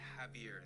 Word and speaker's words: Javier: Yeah, it's But the J is silent. So, we pronounce it Javier instead of Javier.